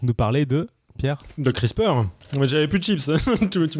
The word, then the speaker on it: CRISPR: entend beaucoup parler de crispar je vous préviens tout de suite que moi je prononce crisp et pas crisper crispar CR r i